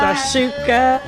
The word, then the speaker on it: shakshuka: Shakshuka. Yeah, I'm always messing up that name. We got to figure out from Mia why I keep pronouncing this wrong. Saying what I said. Like hookah, shakshuka.